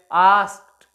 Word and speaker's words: asked: आस्क को हमने यहां कहा आस्क्ड, यहां पर हम इसको ड साउंड प्रोड्यूस नहीं करेंगे, it will be pronounced as आस्क्ड, ट, आस्क्ड, ट साउंड यहां प्रोड्यूस होगी।